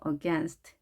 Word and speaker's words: against: against, against. 자, against라고 읽지 않고요. against. 자, AI 발음이 E로 하나만 발음이 되었죠. against. 강세가 여기에 있습니다.